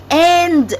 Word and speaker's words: and: together, people say black and white. Is it black and white? Well, actually, we write it and, A-N-D. However, the correct pronunciation is black and. We pronounce it as an.